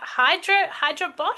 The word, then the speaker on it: Hyderabad: Yes, and you're based in India and I'm not pronouncing this very well, but Hyderabad, is that right, Jay? Yeah, How do you Hyderabad.